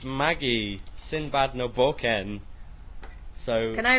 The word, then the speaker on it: Magi: cuz I remember when when I was hearing people call it Maggie I used to get really pissed I was like, "No, it's magi." You say it like magi. And then I watched the anime and it is it is Maggie because it doesn't mean the same thing.